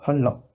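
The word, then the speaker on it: 한라: Et deuxième exemple, han-da, qui deviendra Halla. Halla, c'est le nom d'une montagne en Corée du Sud. N plus L, ça fait double L, et L plus N, ça fait double L aussi. C'est beaucoup plus facile à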